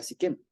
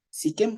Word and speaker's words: Siquem: Siquem, ¿cómo suena? Con S-I-Q-E-M en español. En hebreo es Shechem.